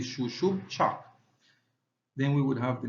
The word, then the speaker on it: Xub Chaak: dots that are here these two little dots actually uh tells us that you should pronounce that syllable twice so you should say Sho Sho and here you have shoo Bo cha so here phonetically and here would be shush chak then we would have